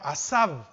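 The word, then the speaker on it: עזב: dejaran esa palabra dejaran viene del del del hebreo asab con z a Z a b acento en la a y significa dentro de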